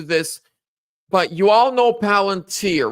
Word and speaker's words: Palantir: Or is it Palatine? I always mispronounce it. Palantir.